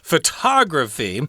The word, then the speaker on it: photography: particular case excuse me the accent is on the second syllable in this case photography whereas if you talk